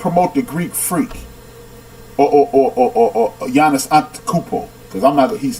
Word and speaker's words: Giannis Antetokounmpo: Giannis Antetokounmpo, punk.